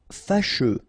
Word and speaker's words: fâcheux: Fâcheux. So final X not pronounced, and then you get your combination of U, E. Fâcheux.